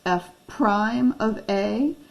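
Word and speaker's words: f′(a): It's pronounced f prime of a, f's derivative at a, f's rate of change at a.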